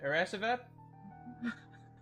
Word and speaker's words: Eresavad: Natalie with the Crafting Moves, Eresavad. Eris Savad. Eresavad. pronounce the A's as E.